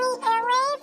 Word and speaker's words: Elay: it's me, Elay, pronounced like Elay, like the city.